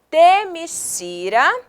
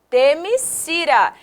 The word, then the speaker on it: Themyscira: Princesa e embaixadora das Amazonas da Ilha Paraíso, também conhecida como Themyscira ou Themyscira, escrita de uma forma diferente, mas a pronúncia é a mesma.